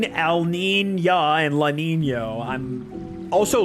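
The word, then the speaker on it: Niño: Like you say Nina and Nino, like the weather systems, man. Like I I don't know. It just feels weird to say El Lina and Lanino.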